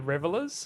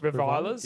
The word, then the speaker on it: Revilers: revilers, Yeah. revilers I think that's faction. how you say it. Yeah. Is that's a sub? Revilers makes so much more sense. I've been calling them revelers for so long, and I I'm just,